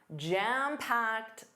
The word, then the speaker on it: jam-packed: My schedule or my calendar is jam-packed this week.